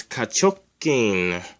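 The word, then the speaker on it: 下直筋: The first symbol, just like in the last word, it's ka, which means under or below. It's pronounced like that. The second symbol is chok, which means straight. And it's written like this. And it's pronounced chok. Oh, that's the wrong symbol.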